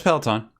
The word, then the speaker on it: Peloton: before um uh on our main channel uh peloton uh peloton i don't know how to pronounce that yeah it's peloton um has uh now again we covered the